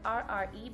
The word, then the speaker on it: Rre: So it's RRE, but pronounced R-E-E, Rre.